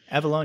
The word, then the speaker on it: Avallone: Is that how you say his name? Or Avallone? Avallone, yeah. Avallone, okay.